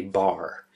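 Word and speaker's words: barre: That's called a bar. It's spelled B-A-R-R-E. Yep, that's the way it's spelled for some reason.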